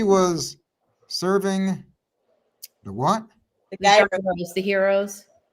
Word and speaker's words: gyros: The heroes. I say gyros. I don't know how to pronounce it. What is it? Heroes.